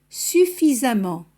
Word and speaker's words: suffisamment: Il n'y a pas de différence de prononciation entre les deux suffixes, c'est-à-dire on les prononce de la même manière. Fréquemment, récemment, suffisamment. Si os dais cuenta que la pronunciación es la misma, suena como una A en todos los casos.